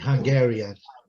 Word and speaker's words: Hungarian: Hungary é a primeira sílaba, certo? Hungary. Ele muda lá. E Hungarian. É na segunda.